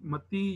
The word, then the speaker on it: متی: وجہ سے یوحنا اور متی یا متا، یہ دونوں تلفظ میں نے پڑھے ہیں. تو میں کبھی متا بول دیتا ہوں، کبھی متی بول دیتا ہوں، تو اس سے آپ نے جو ہے وہ کنفیوز نہیں ہونا. متا کا تلفظ جو ہے وہ زیادہ جو ہے وہ میرے خیال میں رائج ہے، اور متی کا جو ہے وہ عام فہم سمجھا جاتا ہے، اس لیے اکثر لوگ